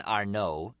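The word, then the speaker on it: Arnaud: Soon as we did, we find out a man named John Arno, A R N A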